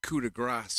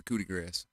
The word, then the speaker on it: coup de grâce: yup and then a coup de Grasse he said it wrong again coup de Grasse he lands the coup de grâce who's different who d